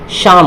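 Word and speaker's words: psalm: अब ये एस से पहले क्या है, पी है, तो पी क्या होगा आपका, साइलेंट हो जाएगा। तो क्या हो जाएगा, ये शाम हो जाएगा।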